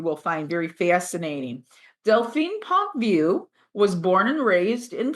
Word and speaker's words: Pontvieux: And today we have a marvelous guest, Delphine Pontvieux. Did I pronounce that correctly? Yes, fantastic. I've heard every pronunciation, so it's good. Yeah. Pontvieux is the way. Delphine Pontvieux.